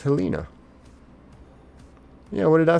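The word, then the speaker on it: Helena: Bob says it's pronounced Helina.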